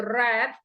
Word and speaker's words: read: wrote here okay guys the present tense is read and the past tense is going to be red okay the spelling is the same but the pronunciation totally different guys okay now that's